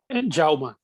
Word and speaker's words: Jaume: Jaume. Jaume. Jaume, James in Catalan. So what was the last? Sorry? It's James in Catalan, so it's pronounced Jaume.